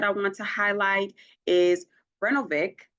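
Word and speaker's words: Brnovich: Another recent case that I want to highlight is Brenovic v.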